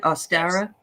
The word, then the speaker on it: Ostara: ostara yes is that how you say it austera okay and that's a pagan holiday which is